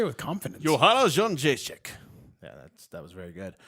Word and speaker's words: Joanna Jędrzejczyk: just wanted pound to know champion, how to pronounce that name. It's Jędrzejczyk.